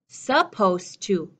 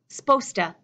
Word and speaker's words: supposed to: scientists supposed that that that s and P connected supposed to s'posed to supposed to sposta she's supposed to go